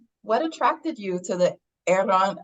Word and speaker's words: Aarón: And Pop Media's brought us Aaron. I mean, there's many, versions, but he does, take a lot of pride being Mexican, and he does pronounce his name Aaron. I can't roll my R's.